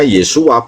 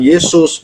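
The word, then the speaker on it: Yeshua: tadi sudah saya typing di bawah bahwa pada masa ee dari dalam kandungan itu malaikat memberikan namanya Yesua bukan Yesus. Yesus itu dari nama Yesua yang ditambahkan huruf S.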